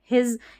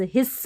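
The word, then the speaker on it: his: को प्रोनाउंस करते हैं हिज यहां पर हिज हिस नहीं बोल रहे स नहीं हो रहा हिज ज उच्चारण एस का और सिट में तो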